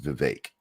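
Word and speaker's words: Vivek: to pronounce it because he'll tell people it's like cake so it's vake I like cake now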